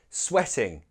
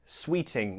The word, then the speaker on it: sweating: to you you are sweating pronunciation I often hear sweet Sweeting no sweating the verb sweat and how can he